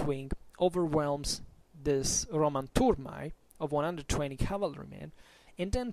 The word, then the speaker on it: turmae: So what happens according to Livy is that the wall Seleucid right wing charges the Roman turmae, in pronunciatio restituta, otherwise turmae if you prefer.